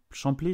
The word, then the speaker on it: Champlay: plantes Colombiers vert à champlé je crois que c'est ça oui alors quand on est de Lyonne on dit chanl on prononce pas le P ah mince alors ah